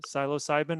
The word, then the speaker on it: psilocybin: mushrooms the silo uh psilocybin is that how you pronounce it you were a biological yeah but yeah i'm no longer a body maker so you know so there you go yeah i think that that looks right i think you did pronounce it right yeah so it's a